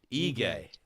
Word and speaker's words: Ige: see in Danny Dan but how do you pronounce it again give me one more time what egay are we reading it right and I [